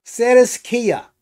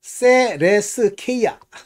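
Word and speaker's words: θρησκεία: 텐론 안겔론이 앙겔리온면 전달하는 사람들 주로 천사로 번역하는데이 천사 종교라는 뜻이에요 이게.음 세레스케아. 아, 세레스케이아 죄송합니다. 발음이 아까 약간 틀려 가지고 천사를 종교하저 존경하는 자들이고 여기 보면 엠바데 태우노 태우 엠바테우온게 신비주의 신비주의요 신비주의로 들어가는 거예요.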